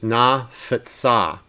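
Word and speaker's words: נָפְצָה: So notice how that word, that metag, means you say the na, and that's kind of like the first syllable, and then you have to say futsa is how it continues.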